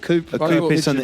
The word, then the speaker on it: coup: But I thought a coup was a coupe with a silent P. Yeah. Yeah, so it's called a coup, but it's spelled coupe. Coup, French word, COUP.